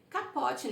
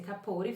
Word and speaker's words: Capote: Capote, né, como tá escrito, mas a pronúncia é capore.